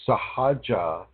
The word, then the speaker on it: Sahaja: anyone, do not do sahaja meditations or sahaja yoga or sahaja kundalini. Do not do this. Okay. Sahaja is spelled S-A-H-A-J-A, I believe. Sahaja. Or any spelling that resembles that.